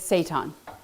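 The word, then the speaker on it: seitan: i t an and it sounds like Satan okay so it is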